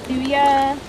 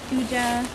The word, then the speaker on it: Thuja: Okay, so this is the Thuja or Thuja.